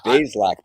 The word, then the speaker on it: Bazelak: We know that they've added Karna Bazelak, but we don't know what that has done. It's Bazelak, by the way.